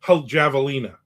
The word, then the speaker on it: javelina: By the way, the J in javelina is pronounced with an H sound. Oh, so javelina.